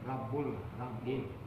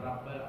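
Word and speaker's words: ربّ: Rabbul. Jangan Rabbal tapi Rabbul Alamin.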